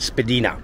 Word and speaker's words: Spadina: You heard that right, Spadina. That's actually the way the house name is pronounced.